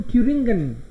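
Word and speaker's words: Thüringen: इसके अलावा जर्मनी के दिल में है ये दो स्टेट्स, बीच में एकदम, हेसन और ट्यूरिंगन। हेसन, एन ट्यू, एच को साइलेंट किया मैंने इसलिए इसको ट्यू बोल रहा हूं, ट्यूरिंगन।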